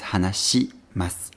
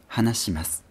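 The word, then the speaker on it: はなします: But the thing is, the sound si doesn't exist in Japanese. If we look for the ending syllable su in the hiragana chart and move up one row, we have shi, not si. So the polite form of hanasu is hanashimasu, hanashimasu.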